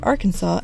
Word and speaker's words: Arkansas: You can thank the French for the silent S at the end of the word, which is the reason that Arkansas and Kansas are pronounced so differently.